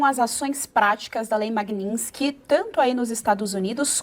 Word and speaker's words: Magnitsky: É, a lei se chama Magninski.